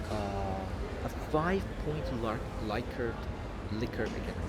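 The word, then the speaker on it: Likert: I realize that I'm pronouncing this incorrectly. It's not ly previous videos say Lyard. It's not like liquor. Sorry. Liquor scale.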